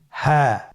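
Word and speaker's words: هاء: হ্যাঁ হরফটি উচ্চারণের স্থান কণ্ঠনালীর শুরু হতে, অথবা আমরা যদি আরবিতে বলি হলকের শুরু হতে এই হরফটি উচ্চারিত হয়।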